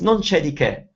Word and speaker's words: non c'è di che: It's non c'è di che.